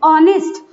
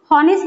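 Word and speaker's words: honest: ओ letter से, ऑनेस्ट। हॉनेस्ट नहीं बोलेंगे हम, ऑनेस्ट बोलेंगे क्या? नहीं, इसका जो एच लेटर होता है वो क्या होता है? साइलेंट होता है, इसलिए हम ये एच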